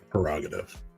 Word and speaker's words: prerogative: You know, we've been pronouncing that word wrong for like 30 years. Prerogative.